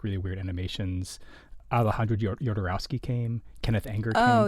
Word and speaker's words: Alejandro Jodorowsky: Alejandro Jodorowsky came.